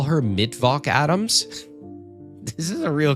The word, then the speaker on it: Mittwoch: It's pronounced Mittwoch. Do they call her Levinson in the morning? I don't know, someone should. Just call me Levinson in the morning, baby. Mittwoch.